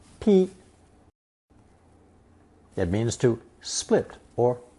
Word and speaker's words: 劈: Pronounced first tone 劈.